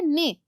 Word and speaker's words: neighs: Hurries, ने, इस word को पढ़ा जाता है ने। नॉइज व्हिच हॉर्सेस मेक, घोड़े की या हॉर्स की बोलने की आवाज को कहते हैं ने, ठीक है, और उसकी स्पेलिंग है NEIGHS। इसको किस तरह प्रोनाउंस किया जाता है? आपकी बुक में भी लिखा है NAY।